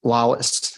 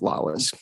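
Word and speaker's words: Lallis: are thank you it's Lawless l-a-l-l-i-s but it's pronounced Lawless thank you Mr loss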